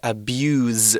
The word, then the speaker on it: abuse: So it's spelt the same as the noun, but we say abuse with a Z sound rather than abuse with an S sound.